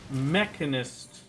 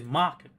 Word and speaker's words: Machinist: I used to pronounce his Mechanist and now I can't pronounce it correctly ever. You can't pronounce it incorrect, you mean? Because pronouncing it Mechanist is incorrect. It is Machinist.